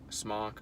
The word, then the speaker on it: Smok: It's a Smok or Smoke, however you want to say it. It's spelled S-M-O-K, but some people like to say smoke. Other people like to say Smok because there's no E.